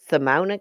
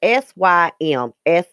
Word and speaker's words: Symsonia: intersection, just south of, I can't pronounce this word, Simona, Kentucky. It's Symsonia, Kentucky.